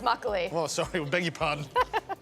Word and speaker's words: makgeolli: Tell me, what is Makegeolli? It's actually pronounced makgeolli.